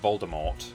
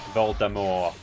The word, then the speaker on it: Voldemort: J.K. Rowling said that Voldemort was originally meant to be pronounced without the hard T. It's not Voldemort. It's Voldemort.